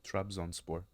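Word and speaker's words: Trabzonspor: Trabzon Sport. Trazon Sport with a 4-0 win for Trabzon Sport.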